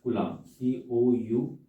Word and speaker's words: Coulomb: तो SI unit is कुलाम, COULOMB spelling रहती है, और इसी को हम